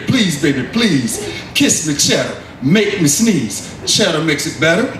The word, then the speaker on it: Chetter: of it and so they did they say cheddar cheese cheddar cheese kissed the girls and made